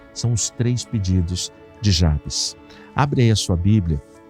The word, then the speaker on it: Jabez: na área de comentários muita gente pronuncia a cabeça outras pessoas como eu pronunciam Jabes Eu já ouvi gente pregando falando Javé e a gente não precisa brigar por causa de pronúncia por causa de como se fala mas vamos ficar com Jabes tá bom E se